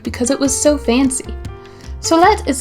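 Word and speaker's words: סלת: Solet is spelled like this: Samech, Lamed, Ta.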